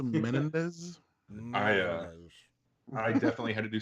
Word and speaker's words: Menendez: It's pronounced Menendez.